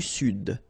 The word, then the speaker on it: Sud: L'Amérique du Sud. Here you should pronounce the D.